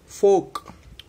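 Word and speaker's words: folk: देखो आफ अह आ हुआ कि नहीं हुआ, इसमें आ का उच्चारण आफ आफ, बराबर। फोक हो फोक डांस बोलते हैं ना वो वाला।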